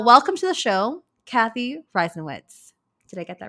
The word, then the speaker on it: Reisenwitz: first time uh welcome to the show Kathy ryen witz did I get that right absolutely perfect absolutely